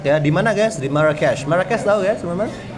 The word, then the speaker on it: Marrakesh: Markets of Marrakesh. Jangan dibaca Marrakech. No. Kenapa, Sir? Karena nama kota biasanya ya tergantung kotanya gimana maunya disebut. Kayak Machu Picchu nggak kita bilang Machu Picchu kan? Marrakesh kalau di sana bacanya.